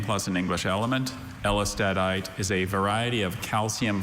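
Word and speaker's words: ellestadite: Elistadite is a variety of calcium phosphate mineral containing silicon, carbon, and sulfur, replacing some of the phosphorus.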